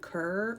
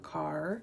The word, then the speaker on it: Kerr: You could pronounce it Kerr or Carr.